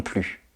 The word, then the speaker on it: plus: devez répondre moi non plus attention le S de plus est muet il ne se prononce pas exemple je ne connais